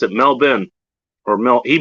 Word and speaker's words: Melbourne: up here and gertrop actually knows how to pronounce it mel ben or mel he pronounced melbourne it smelled ben